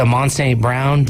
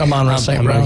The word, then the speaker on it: Amon-Ra St. Brown: They're looking for that type of stuff, and it's awesome when was it Amon St. Brown? Is that how it's said? Amon-Ra St. Brown.